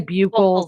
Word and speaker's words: buccal: 1, did you say buccal swab? Is that how you say it? Some say buccal, some say buccal.